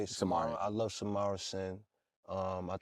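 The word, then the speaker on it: Samara Cyn: Samara.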